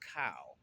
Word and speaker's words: chao: pronounce it as child you might want to pronounce the h but the H is silent it's c h AO but it's pronounced cow what it is is